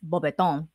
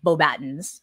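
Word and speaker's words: Beauxbatons: It's unlike how Michael Gambon pronounces the academy. It's Beaubaton, not Beaubatons or academy, whatever he says.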